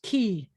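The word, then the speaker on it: כי: come down here this the curved cuff with the e vowel is key key in modern hebrew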